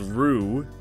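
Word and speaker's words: roux: You eventually get the item that's Ruxel's Rue. R-O-U-X is a real word, it's pronounced Rue, which means the master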